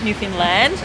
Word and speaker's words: Newfoundland: I learned how to pronounce that properly, Newfoundland.